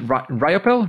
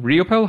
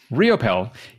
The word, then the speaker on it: Riopel: only because you said so so robert raymond ryappel riopel how do you pronounce that you got it on the second one realpel riopel he is an international best-selling author app designer